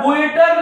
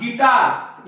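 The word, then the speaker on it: guitar: गुवाईट न म्हणतात गाईड याला गुएटर न म्हणतात गिटार याला बिस्किट्स न म्हणता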